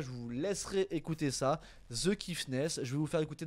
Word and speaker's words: The Kiffness: Voilà, The Kiffness, The comme The tout simplement, et plus loin, Kiffness, Bien vu, l'artiste.